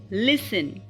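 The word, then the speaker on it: listen: यहां पर साइलेंट है अब अगर टी के पहले एस हो यानी कि पहले एस हो फिर टी हो तो तब भी टी साइलेंट हो जा कई वर्ड्स में जैसे कि क्रिसमस लिसन फसन मोशन ओके यहां पर क्र क्रिसमस नहीं पढ़ते हैं क्रिसमस लिसन फसन एंड मसन और दूसरा अगर टीसीएच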